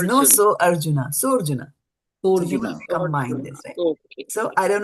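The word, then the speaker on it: सोऽर्जुन: I did not say sa Arjuna, right? Or so Arjuna. I didn't say that. It's so Arjuna because there's no a now.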